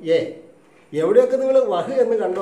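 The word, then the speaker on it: यह: പക്ഷേ നമ്മൾ സംസാരിക്കുമ്പോൾ യഹ് എന്ന് പറയാറില്ല, വഹ് എന്ന് പറയാറില്ല. നിങ്ങൾ എവിടെയൊക്കെ യഹ് എന്ന് കണ്ടോ അവിടെയൊക്കെ നിങ്ങൾ എന്ത് പറയണം, ഏ.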